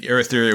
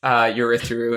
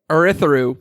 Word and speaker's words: Urithiru: Navani converts Urithiru into a spaceship. See? All right. We got to have a quick sidebar here. You, Matt, are pronouncing Urithiru with a U rather than oo there.